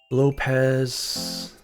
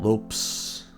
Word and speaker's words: Lopez: Lopez. Good old Lopes. Cuz antelopee I guess. Lopes. Uh so maybe we should just pronounce it as Lopes.